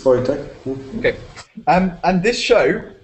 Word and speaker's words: Wojtek: Can you please correct me in the pronunciation? I keep saying Wojtek. Is it Wojtek? Yeah, it's okay. It's Wojtek.